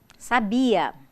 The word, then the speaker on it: sabia: adjetivo sinônimo dinheiro kita sabia é a forma do pretérito perfeito do indicativo do verbo saber e sabiá é um substantivo designativo de cohen conhecido passado vejam cada um tem a sílaba tônica em um lugar diferente então é importante que se saiba colocar o acento eu quero falar do